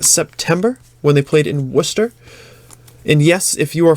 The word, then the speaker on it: Worcester: one the last September when they played in Worcester and yes if you are from out of town Worc e st ER is Worcester all right Worcester pronounce it like